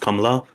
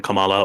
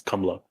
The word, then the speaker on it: Kamala: In India it's pronounced Kamla. It's not even Kamala or Kamala or it's Kamla.